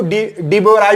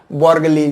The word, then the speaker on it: de Broglie: उन्होंने इतनी बड़ी हिम्मत की, देखो इनको डी बोराय भी बोलते हैं, अलग अलग नाम बोलते, क्यों बोलते मुझे भी पता नहीं, डी बोराय या बोर्गली, कुछ भी ऐसे प्रोनाउंसिएशन में बहुत बड़ी प्रॉब्लम